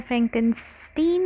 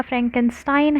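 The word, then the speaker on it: Frankenstein: पास एक नोवल है फ्रैंकनस्टीन है या फ्रैंकन स्टाइन है जिस भी आप लोग प्रोनाउंस करना चाहे इट इज रिटन बाय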